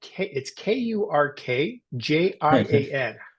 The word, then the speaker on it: Kurkjian: It's just, try and jam those consonants together and make it work for you.